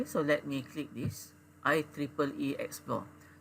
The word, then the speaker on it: IEEE: let me click this i triple e explore so you pronounce this i e e e e so we pronounce that as i triple e okay this is i